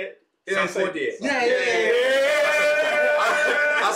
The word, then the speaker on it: Sarkodie: Sarkodie.